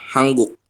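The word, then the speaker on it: 한국: ya apa hangguk Hm Kenapa dibacanya hangguk di sini kan tulisannya adalah han guk ya Enggak ini kan Han terus guk Kenapa kok kita membacanya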